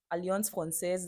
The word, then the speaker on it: Alliance Française: So what I did, I went to Alliance, Alliance Française. That's how it's pronounced.